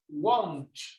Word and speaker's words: won't: Won't. Won't. Yes, but remember this letter over here, the W, right? It's gonna sound like the U in Spanish.